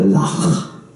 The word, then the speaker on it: loch: But in Scotland they don't call it a lake, they call it, what do they call it? They call it a loch. Right? You gotta say it right. Loch.